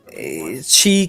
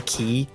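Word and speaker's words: χ: Well, it's pronounced Chi, but like whenever it's shown in the game and they say Key, and it's like a squiggly X.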